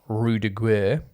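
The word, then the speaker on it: Ruse de Guerre: So he is in that Operation Fortune, Rue de Guerre. That is the correct pronunciation.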